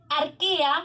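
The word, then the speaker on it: Archaea: los dominios se llaman arkía se escribe marcharía pero cuando se pronuncia se dice arte como si fuese una q en el próximo dominio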